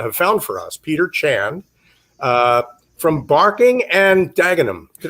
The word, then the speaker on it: Chand: And we have a terrific guest that Ian and Helena have found for us, Peter Chan from Barking and Dagenham. Did I pronounce that correctly, Peter?